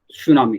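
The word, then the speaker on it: tsunami: ये जो है टी साइलेंट होता है, तसुनामी लिखाता है वो, है ना। और जापानी शब्द, जापानी भाषा में तसुनामी लिखाता है, लेकिन टी जो है साइलेंट हो जाता है, इसलिए इसे हम लोग सुनामी कहते हैं।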